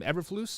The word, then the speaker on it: Eberflus: Believe it's Matt Eberflus. Is that how you say his name? Eberflus.